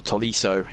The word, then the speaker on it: Tolisso: It's going to be the number 12, Tolisso. Who is going to come on in his place. Or Tolisso, if you want to get the pronunciation spot on, which I'll try and stick with.